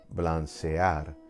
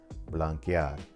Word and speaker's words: blanquear: because then I'd have blancear. That would be the wrong pronunciation. To maintain that hard K sound, we change the C to QU before adding EAR, blanquear.